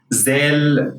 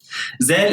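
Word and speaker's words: ذ: Zal in standard Arabic is pronounced like a voiced th sound, as in the word mother, while in standard Arabic it's a regular Z sound.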